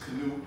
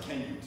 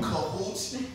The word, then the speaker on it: Kenute: I'm gonna break it down to two ways. My name is Kenute, or in Jamaica, because I'm Jamaican, it's pronounced Kenute, right?